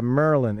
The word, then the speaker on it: Maryland: Hey, you're from Maryland. That's the first place I ever had a job, in Pikesville. And I remember the guys say, yeah, Merlin. It's like Merlin the magician. That's how you say it.